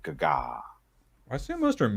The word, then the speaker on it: Gaga: That's exactly how you pronounce it. Gaga.